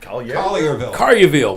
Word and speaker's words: Collierville: How do I pronounce this? Collierville? Collierville, man.